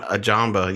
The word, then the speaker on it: Ajagba: Ajagba.